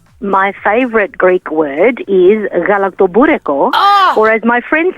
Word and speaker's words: galaktoboureko: So the people that are not good with pronunciation call it galactic booty call. And if you were to go into a Greek bakery and you called it that, chances are they would know that you wanted galaktoboureko.